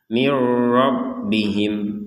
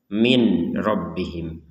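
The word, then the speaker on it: من ربهم: kemudian Kalau yang ini nun sukun bertemu ini tidak didengungkan langsung saja mirbihim jadi jangan dibaca minbihim jadi langsung mirbihim tidak ada dengung tidak ada samar jadi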